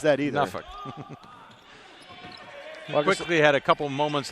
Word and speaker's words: Norfolk: No, like Norfolk, Virginia. Nobody says that either. Norfolk.